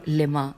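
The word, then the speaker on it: لِم: مطلب حل مطلب لما، بس یہی ہے لم، بلکہ لما بھی نہیں ہے، لام کے نیچے زیر ہے اور پھر میم.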